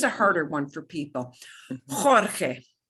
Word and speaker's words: Jorge: Jorge. Jorge. Jorge. You've got two H sounds.